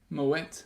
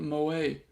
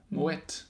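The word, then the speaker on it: Moët: Moet, not Moet, as I always thought. Moet. Pronounce the T.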